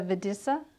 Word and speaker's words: Videssa: The Videssa, am I pronouncing that right?